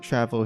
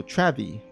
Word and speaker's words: Travi: definitely in favor of Travel here. Oh wait, actually it was 2 eyes, so Travi. I've been mispronouncing his name.